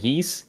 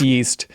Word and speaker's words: Ys: play any of those yees games or east know they're pronounced it's pronounced yeast um no I've never